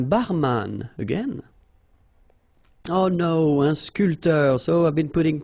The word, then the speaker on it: sculpteur: Un sculpteur. Un sportif. Un peintre. Un photographe. Un journaliste. All right, so un barman. Un sculpteur. Same thing here. This P here is not pronounced. So, sculpteur, un sculpteur.